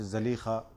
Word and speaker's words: Zulaykha: to the point where Zulaykha, and some say that she has a different name, Rahil, or Zulaykha, or somehow pronounced Zalikha.